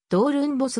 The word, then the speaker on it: Doornbos: についてはオランダ語の発音ではドールエンボスが近いもともとはテニスプレーヤー